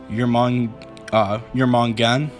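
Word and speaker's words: Jörmungandr: something told me that how you pronounce this name is your mom your mom gun so that's how I'm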